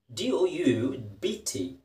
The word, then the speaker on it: doubt: the next word is d-o-u-b-t doubt p is silent don't doubt okay the